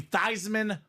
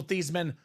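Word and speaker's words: Theismann: you over the top let's take that theeman name and change it to thyman so it can be thyman for the Heisman wow damn lo and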